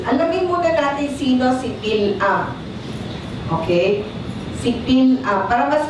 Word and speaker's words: Balaam: Ang pronunciation sa Hebreo ay Bilam. Bilam. Okay, correct? Bilam. Para sa kanila, Bilam. Sa atin ang spelling, hindi tama, pero ang pronunciation naman sa atin, Balam. Pero sa kanila, Bilam. So, tawagin natin Bilam. Si Bilam, tinawag ni Balak.